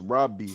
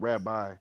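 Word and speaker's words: ربي: Yeah, but it's pronounced Robbie, not Rabbi.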